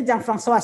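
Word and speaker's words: Jeanne Françoise: Jadi nama saya dibacanya Jean François ya, tapi karena ya susah di sini logatnya jadi ya udah biasa dipanggil Mbak Jen atau Ibu Jen gitu ya.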